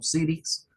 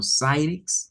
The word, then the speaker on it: Cyrix: Algunos la pronuncian como Cyrix, otros la pronuncian como Cyrix, ¿verdad? Viniendo pues del inglés, pensaríamos más que es la segunda forma, la correcta de pronunciarla.